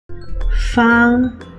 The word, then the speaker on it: 芳: 芳 is the upper part 草 and the lower part 芳. 芳 and 方 are the same pronunciation.